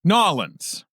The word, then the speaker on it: New Orleans: uh new orleans yeah nollens right right right now i'm i'm pronouncing it in the very uh non-traditional way the overly formal way uh new orleans instead of nollins because uh in order